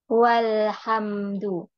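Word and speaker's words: والحمد: dibaca ya dibaca Dibaca Sekarang saya mau nambah wau di sini kira-kira bacanya jadi apa walhamdu Nah walhamdu ini Alif ini dibaca tidak tidak nah itu yang disebut dengan Hamzah wasal Hamzah wasal adalah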